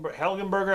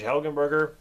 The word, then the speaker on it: Helgenberger: But Marge Marge Helen Helenberger, I think that's how you say it. Marge Helgenberger, she's very very good in this.